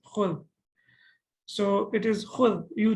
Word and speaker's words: خُذ: So it should be ukhud, okay? But what the Arabs did, they said, okay, we find it difficult to pronounce, so we will only pronounce it as khud.